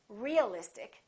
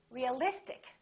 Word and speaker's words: realistic: ic in this case we don't stress the suffix but we stress the syllable immediately before the suffix realistic we don't say realistic we don't say realistic we say realistic Electric ity Electric strategic